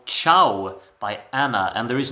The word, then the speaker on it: Čau: that I will be talking about is called chiao by Anna and there is no way that I would ever be able to pronounce this title wrong because uh I heard